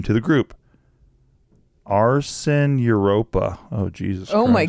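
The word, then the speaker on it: Arsyn: many generations they're baby arson arson a-r-s-y-n like lighting things on fire no but like spelled like s-y-n like instead of s-o-n just one letter off okay from Arson full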